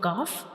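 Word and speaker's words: ق: has no dot and this letter is a lighter letter. Calf is a lighter letter. So we don't read it with heavy sound. We will read it lightly like cough cough.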